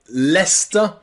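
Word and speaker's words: Leicester: pronounce this Leisure leisure but in England we pronounce this with an E Leisure Leisure also in some place names like leester and some very rare words like heer heer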